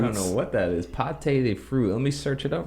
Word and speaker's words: pâte de fruit: Pâté de fruit. Let me search it up real quick. It looks like it's just some type of chew. Texture, literally translated, pâté de fruit, pronounced pâte de fruit, means fruit paste.